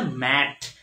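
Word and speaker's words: met: আমরা জানি এটা কিন্তু মিট না, এটা হচ্ছে ম্যাট, এম ই টি ম্যাট, আর উচ্চারণটা কি প্রনান্সিয়েশনটা কি আইপিএ, এটা হচ্ছে আইপিএ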